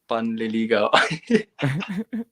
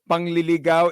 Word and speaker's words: panliligaw: Pwede ng panliligaw. Remember, panliligaw is showering. Pangliligaw is getting somebody lost. Okay, so that's two different things.